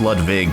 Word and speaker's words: Ludwig: Morton in Ludwig, or I guess it's pronounced Ludwig because he's kind of German or something.